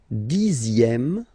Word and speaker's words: dixième: Le dixième, so remember, even if you've got this z, X here, you pronounce it z.